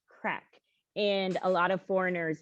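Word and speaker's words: craic: an irish word and it's spelt c-r-a-i-c and it's pronounced crack and a lot of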